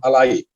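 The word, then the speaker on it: Aly: Él es descendiente de árabes, se pronuncia Farid Camilo Mondragón Alay.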